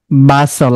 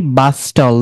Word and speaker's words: bustle: apostle, bristle, slash, bustle, বাসল, আমরা কি বলি বাস্টল না, তারপরেরটা castle, ক্যাসল, আমরা কি বলি ক্যাস্টল না, এটা হবে ক্যাসল।